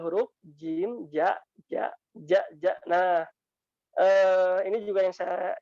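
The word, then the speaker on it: ج: Kalau terlalu belakang ini bunyinya kayak gini. Ja, ji, ju, ja, ji, ju. Nah, ini contoh jim yang kurang tepat. Yang insya Allah tepat, yang insya Allah benar pengucapannya dari lidah bagian tengah. Ja, ja. Nah, seperti itu bunyinya. Ja, ji, ju, baje, aje, ije, uj. Jadi bukan aje, ije, uj. Nah, itu faktor karena terlalu belakang pengucapannya.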